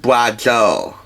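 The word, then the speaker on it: braciole: beef excuse me br it's pronounced bra Joo I'm pot Italian folks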